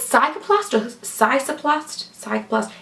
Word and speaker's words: Cicaplast: I'm never going to be able to pronounce this. La Roche-Posay, is it called Cicaplast or Cicaplast? Cicaplast.